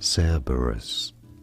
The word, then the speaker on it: Cerberus: Cerberus. Stress on the first syllable.